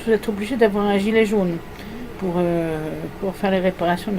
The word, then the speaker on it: gilet jaune: barbare qu'est le français, on dit gilet jaune. C'est difficile hein, pour les langues qui n'ont pas de J comme l'allemand. Les Allemands disent des gilets jaunes et les Anglais disent des gilets jaunes.